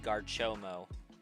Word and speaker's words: Garchomp: Also, for those that don't know, 90% of the time, Garchomp will be pronounced Garchomo on this channel.